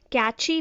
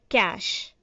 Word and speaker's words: cache: And we were pronouncing it as catchy memory, but the right pronunciation is cache.